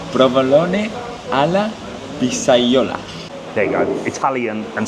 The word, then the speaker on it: provolone alla pizzaiola: Provolone alla pizzola. I've pronounced it wrong. Jack will pronounce it correctly. Jack, what is it? Provolone alla pizzaiola.